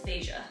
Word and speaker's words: Veja: It's Veja. That's how you say it.